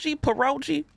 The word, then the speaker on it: pierogi: Pierogi is so it's pierogi. Hard G.